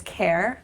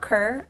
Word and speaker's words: Kerr: So, as you said, Kerry-Ann, aka Miss Kerr, not Kerr. I know it's spelled that way, but we'll talk about that later.